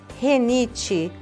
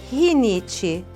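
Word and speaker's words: rinite: hum é supérfluo e a famosa renite que na verdade é rinit melícia é milícia ciclano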